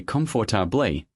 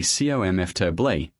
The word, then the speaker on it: comfortable: Many learners say comfortably, 4 syllables, stressing the second. But native speakers say comfortably, 3 syllables. Comfortably. The or in the middle almost disappears.